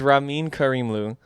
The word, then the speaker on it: Ramin Karimlu: His name is Ramin Karimlu.